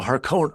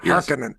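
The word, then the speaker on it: Harkonnen: the lynches you know Haron Haron not Haring you know it say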